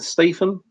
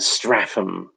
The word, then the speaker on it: Statham: Sometimes I pronounce it Stratham for some reason.